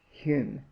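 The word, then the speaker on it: Home: namesake of mine ebid h-o-m-e is pronounced hume he often wrote of his friend as mr john hume alias h.o.m.e a few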